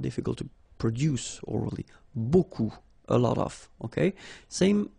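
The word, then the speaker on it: beaucoup: strange B like that remember you don't pronounce the final P okay and then you get this combination of vowels a u and you get the sound o so technically it's B okay so it's not difficult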